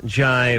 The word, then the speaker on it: Jai: How do you pronounce that? Jai? Jay? You got it, Jai.